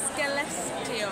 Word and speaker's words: Skellefteå: Johnny Jett, this is how you pronounce it. Skelleftea. Skelleftea.